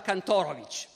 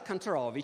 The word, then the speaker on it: Kantorowicz: diventa molto antitedesco anzi cambia perfino la pronuncia del nome perché in germania pronunciava cantoro vc che per i tedeschi suona meglio in america comincia a pronunciare cannes trovi che invece funziona meglio per gli americani ripudia il suo libro